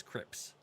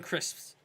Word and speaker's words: crisps: as take it says Crips yeah the degenerates and a mispronunciation she she she says Crips she's basically missing out the s in crisps she we've we've gone